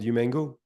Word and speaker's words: Humango: your th French accent Eric how do you pronounce the name of our app obviously it's called human go human go human go so thanks everybody um